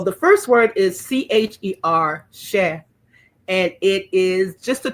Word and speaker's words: cher: So the first word is CHER, cher, and it is just a term of endearment. It just means sweetie or dear heart or my darling one. It's cher. Some people say cher, rhymes with chair.